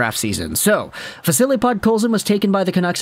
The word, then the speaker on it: Podkolzin: seeing how good this Podzolskin guy was. And I say it intentionally like that because some people were not really pronouncing his name right in the time. Podkolzin in the Hlinka-Gretzky tournament was an absolute force amongst boys.